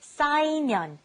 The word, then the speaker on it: 쌓이면: The first one was 쌓이면, 쌓이면, to pile up. Be careful with the 쌓.